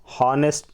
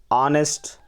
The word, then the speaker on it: honest: In front of H starting words where H is silent with a A sound. I already told honest, no, honest man, R, air, honorable.